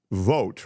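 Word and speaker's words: Vought: Project 2025 that guy vote remember v u g HT I think he pronounces it Vote or vote he has real control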